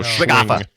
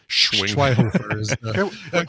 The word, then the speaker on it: Schweighöfer: Schweighöfer. Schwinghofer. Is it? It's not. I don't think the Schwinghofer. You don't say the G. I don't think you don't go Schwinghofer. Schweighöfer.